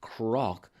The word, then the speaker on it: Knock: Knock, sometimes pronounced crock, means a hill.